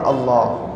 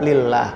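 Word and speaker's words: الله: jalalah atau lafadz Allah patokannya itu kalau sebelumnya harakat dhomah atau fathah dibaca tafkhim atau Allah ya kalau sebelumnya kasrah maka dibaca lillah kayak bismillah ya itu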